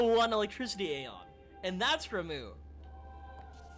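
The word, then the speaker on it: Ramuh: electricity Aeon, and that's Ramu. Is Ramu how you say his name? It's R-A-M-U-H. And the only reason why I think that's how it's pronounced is because of Final Fantasy XIV.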